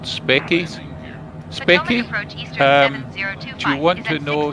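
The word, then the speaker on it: Speccy: It's spelled S-P-E-C-C-Y, Specky.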